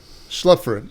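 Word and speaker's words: Schlaepfer: How do you pronounce that, Windell? Schlepfer.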